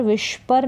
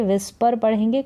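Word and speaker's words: whisper: करना यह है विस्पर व करके उच्चारण है डब्लू एच साथ में व तो इसको पढ़ा जाएगा विस्पर विष परर नहीं पढ़ेंगे विस्पर पढ़ेंगे कानाफूसी करना या फुसफुसाना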